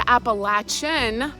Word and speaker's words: Appalachia: It's Appalachia, like throw an apple at you or the Appalachin pronunciation appalachin at throw an apple at your chin.